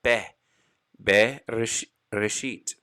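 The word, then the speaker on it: בראשית: a glottal stop now under the letter bait for bereshit it's a shaban na so we have to pronounce it a short e sound and have be resheet the two dots that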